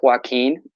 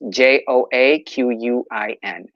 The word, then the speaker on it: Joaquin: That's JOAQUIN. Like Joaquin Phoenix.